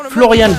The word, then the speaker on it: Florian: bal de la compétition Florian V son prénom se termine par les lettres A n en allemand les deux ensembl se prononcent Anne comme dans animal et non an comme dans ban sur lequel il est